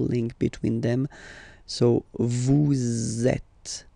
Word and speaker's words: êtes: Vous êtes, same thing here. Notice that final S is not pronounced.